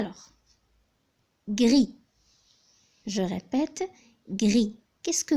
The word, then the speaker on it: gris: pour commencer à l'or gris je répète grille qu'est-ce que vous remarquez j'ai prononcé toutes les lettres qui constitue le mot gris sauf le s la lettre s je